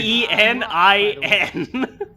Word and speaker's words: Penin: It's spelled Really? P-E-N-I-N. Rosh Penin.